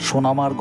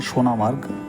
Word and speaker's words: সোনামার্গ: আমরা সোনামার্গ হয়ে চলে যাব কার্গিলে। অ্যাকচুয়ালি নামটা হচ্ছে গিয়ে সোনামার্গ, অনেক সময় উচ্চারণ করা হয় সোনমার্গ।